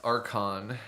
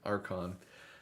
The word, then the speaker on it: Archon: me feel better about pronouncing it like a K, Archon.